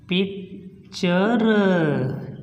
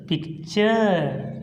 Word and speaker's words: picture: देखिए यहाँ पे हमने कहा कि वर्ड के अंत में TURE, तो यहाँ पे TURE है, इसलिए हम इसका उच्चारण करेंगे पिक्चर, पिक्चर, तस्वीर, ठीक है।